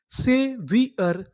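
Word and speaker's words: savior: ए से इसे पढ़ेंगे से वी आई ओ इसे पढ़ेंगे वी। यहां पर जो हमारा ओ है वो हमारा साइलेंट है। इसका उच्चारण नहीं करना। यू आर इसे पढ़ेंगे अर।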